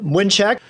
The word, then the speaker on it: Mlynczak: exactly how do you pronounce that name? My name is Mlynczak.